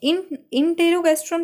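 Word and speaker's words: enterogastrone: guest, ठीक है, एंटेरो मतलब, और इन पढ़ो, इंटेरोगैस्ट्रोन पढ़ो, थोड़ा एंड ऐसे पढ़ लो, प्रोनाउंसिएशन ऐसे कर लो, इंटेरोगैस्ट्रोन, तो मतलब इनिबिट,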